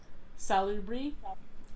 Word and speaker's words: Salubri: There is a clan that is called the Salubri, which are how do you pronounce it? Oh, forgive me. I just like saying the word salubric.